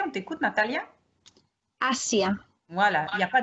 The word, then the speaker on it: Asia: Alors le S, il va se prononcer comme s'il y avait 2 S en français. On t'écoute, Natalia? Asia.